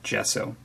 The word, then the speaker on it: gesso: a tub of amsterdam brand artist quality black gesso as i understand it it's also available in